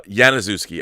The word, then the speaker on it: Janiszewski: for my last name the j is pronounced like a y uh yanazewski all right it's janaz